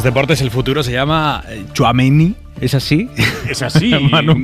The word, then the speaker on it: Tchouaméni: Pues mira, se lo hemos preguntado en la rueda de prensa y lo ha dejado muy claro. Aurélien Tchouaméni. Un jugador Aimar de futuro, pero de presente, porque tiene 22 años solo.